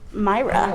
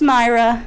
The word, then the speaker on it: Mayra: theater after seeing Cruella, and I am with Mayra. Why it looks that soapy. You might have to say her name again because I too stepped on your audio. Who am I with again? It's Mayra.